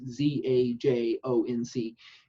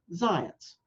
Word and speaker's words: Zajonc: So when you come across that name, you'll know It's pronounced science, like science with a Z.